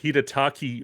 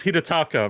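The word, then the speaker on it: Hidetaka: i wrote it wrong so you you ended up saying hirataki miyazaki which rhymes which is just really unfortunate and it's hirataka miyazaki so i wrote the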